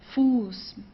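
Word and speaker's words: Fuß: so the vowel here right before the estet is stretched so it's Foos okay it's not F it's fool okay a little bit longer that's the function of this s okay good so that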